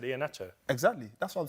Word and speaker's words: Iheanacho: Iheanacho. You see the problem. You see, you made this case for him. That just ended there. Iheanacho, my pronunciation of Iheanacho is closer to the correct pronunciation than yours.